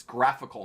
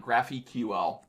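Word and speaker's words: GraphiQL: graphical everyone mispronounces this it's graphical not graphy ql like a graphical unit interface get it y'all but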